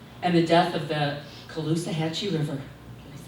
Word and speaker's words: Caloosahatchee: no longer accepting poisoned water, toxic air, increasing cancer rates, and the death of the Caloosahatchee River.